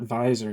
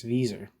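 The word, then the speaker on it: Wieser: quote while ra oh I just realized I've been pronouncing this guy's name wrong it's not advisor it's Visa these are determined the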